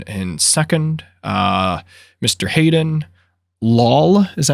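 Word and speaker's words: Loll: second uh mr hayden lawl is that how you pronounce it well it's it's l-o-l-l he said say wall but added an l so wall um but he finished third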